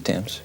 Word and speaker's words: Thames: Isn't that how you pronounce it? The Thames.